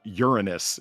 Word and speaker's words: Uranus: This is why Far and I who love our astronomy documentaries both pronounce it Uranus and you can cut them jokes right the off.